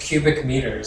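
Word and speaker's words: m³: By the way, for this M3, you would pronounce it cubic meters.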